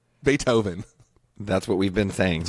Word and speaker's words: Beethoven: Duke do a Beethoven Beethoven Beethoven bait no look at this pronunciation submitted that's Perth Australia there well yeah but like let's just let's just go from having been on the earth for 40 years pronunciation bate ho van Beethoven that's what we've been